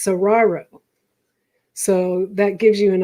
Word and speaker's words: Saguaro: In fact, I was always wondering how to correctly pronounce this, and somebody told me it sounds like tomorrow, but it's Saguaro.